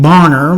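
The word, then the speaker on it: Bonnor: In 1969, WB Bar Bonner, which looks like Connor, only spelled with a B, found an exact solution.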